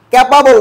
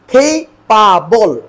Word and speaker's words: capable: ক্যাপাবল নয়, এটা কি হবে? খেইপাবল।